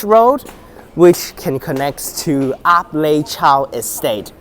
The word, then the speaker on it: Ap Lei Chau: That's Ap Lei Chau Bridge Road, which can connect to Ap Lei Chau Estate. According to City Bus, it is pronounced as Ape Lei Chau Estate, which is completely stupid and wrong.